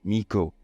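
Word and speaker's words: 巫女: now a lot of people stop at the basic meaning of the word with is Miko, the term used to refer to traditional Shinto priestesses.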